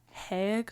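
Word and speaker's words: Haigh: he's there too also I might be pronouncing it wrong it may be heg Hall but it's h a i g h so I'm going with hi yeah that that makes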